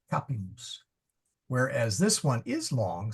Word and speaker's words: capimus: Capimus, audimus. And in fact, that's important because capimus, the accent is on the ka. That's not long, that's not long. So we go to the third syllable, capimus.